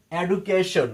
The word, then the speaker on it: education: Vowel letter থাকতে হবে, তাহলে এই ডি এর উচ্চারণ হবে জ। তাহলে আমরা এটা সর্বদা পড়েছি education.